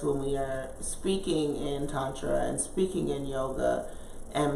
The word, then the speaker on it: Tantra: Midwest so I say tetra all the time if you were saying it in sanskrit with a good dialect a good accent it's definitely pronounced Tantra but we do a